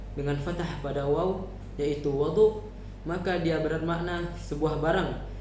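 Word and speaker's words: وَضُوء: Dan apabila kita bacanya dengan fathah pada wau yaitu wadu, maka dia bermakna sebuah barang yang digunakan untuk berwudu seperti bejana dan sebagainya.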